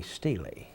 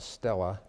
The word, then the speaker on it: Stele: The inventory, I call it the Stele. Stele is fine. It's S-T-E-L-E. You could pronounce it either way.